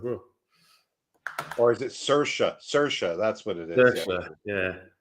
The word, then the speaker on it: Saoirse: Saoirse, that's what it is.